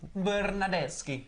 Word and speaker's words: Bernardeschi: Bernardeschi, as you say it properly in Italian.